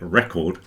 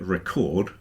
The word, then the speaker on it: record: exactly the same but all you do is move the stress pattern if you put the emphasis on the first syllable you get record which is a noun and if you move it to the second you get record which is a verb so normally with two